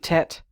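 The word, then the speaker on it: Teth: about the Hebrew alphabet I think Tet is it's spelled t-e-t-h but it is one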